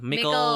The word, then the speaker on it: Mickle: Mickle, which rhymes with... Sickle.